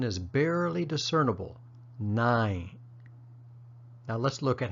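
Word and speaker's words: နိုင်: sound where that final n is barely discernible 9 now let's look at how to place it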